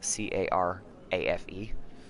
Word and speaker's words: carafe: And then the other one was the word carafe, which is, if you're not aware, spelled C-A-R-A-F-E. So she pronounced it carafe.